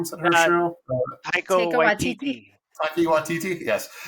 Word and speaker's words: Taika Waititi: Tiki Watsuda. How do you say her name? Is that her show? Taika Waititi.